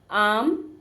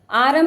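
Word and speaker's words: arm: से बोल रही हूं आम आरम नहीं बोलेंगे आरम आर की आवाज नहीं आएगी आर का साउंड नहीं आएगा आर यहां पे साइलेंट होगा हम क्या बोलेंगे आम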